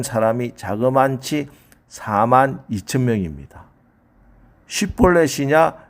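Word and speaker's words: 쉽볼렛: 마침 요단강 나루트의 작은 시냇물이란 말 쉿보렛을 에브라임 사람은 발음이 안 돼서 십볼렛이라고 합니다. 그래서 죽은 에브라임 사람이 자그만치 4만 2천 명입니다. 쉿볼렛이냐 십볼렛이냐.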